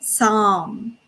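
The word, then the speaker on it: Samhain: ancient celtic festival of some so to spell it correctly it's s-a-m-h-a-i-n but it's actually you can read it as a psalm so when people would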